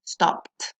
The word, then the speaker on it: stopped: Esta ed nunca la voy a pronunciar como ed, sino que voy a eliminar esta pequeña e y lo que voy a pronunciar es la d, obteniendo stop.